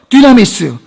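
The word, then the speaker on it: δύναμις: 7절 말씀 능력은 헬라르 디나미스 발음이 뭐 같아요 디나미스 영어의 다이나마이트 다이나마이트 어원이 여기서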